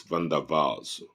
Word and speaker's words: van der Waals: Liquids are characterized by moderate intermolecular forces such as van der Waals forces, van der Waals, W-A-W-W-A-L-S, but it's pronounced as Waals because it's a German word, not Waals.